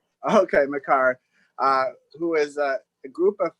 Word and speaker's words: McHargue: Yeah, it's McHargue. The UE is silent. Okay, McHargue, who is a group of 5 insider for ESPN.